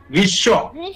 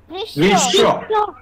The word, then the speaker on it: গ্রীষ্ম: শুধু দুইবার উচ্চারিত হবে এখানে কিন্তু ম হবে না তাহলে কি তা হবে গ্রীষ্ম কি হবে গ্রীষ্ম সবাই কত আমার সাথে গ্রীষ্ম গ্রীষ্ম তাহলে ওটা খেয়াল